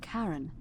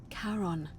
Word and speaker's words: Charon: Only your pronunciation is a little off. The name you heard wasn't Karen. It was C-H-A-R-O-N. As in, Charon, the ferryman of the dead.